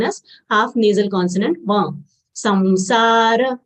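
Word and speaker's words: संसार: Samsara will say samsa and then dra full letter. So we'll say samsara.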